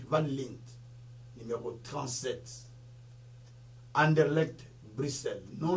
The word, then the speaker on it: Van Lint: Si Larry Van Lit, ça s'écrit V-A-N, et puis Lint, là ça s'écrit L comme Link, mais c'est Lint, L-I-N-T, Lint, Van Lint, numéro 37, Anderlecht, Bruxelles,